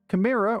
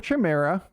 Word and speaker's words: Chimera: Chimera or Chimera can be pronounced in two different ways, with a hard K, like Chimera, or a ch sound, like Chimera, or Chimera,